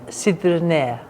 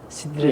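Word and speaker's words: Sidrinė: Sidriné. Sidriné.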